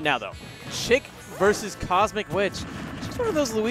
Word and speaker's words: Chic: Pretty chic overall, even though you pronounce it as Chic.